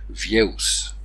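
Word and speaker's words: vieux: Et ça ne s'est jamais, jamais prononcé X. On prononce donc vieus.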